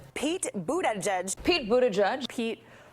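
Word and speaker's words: Buttigieg: so it's not Pete Buddha judge Pete Buddha judge Pete Buddha judge it all boils down to the vowels Buddha judge the vowel in the first syllable is not like boo but like book o book and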